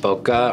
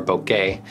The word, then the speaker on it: bokeh: give them distinctive looks bokeh pronounced bokeh or bokeh is simply the luscious